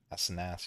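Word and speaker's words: Asenath's: Asenaths, yeah, that's how you say it.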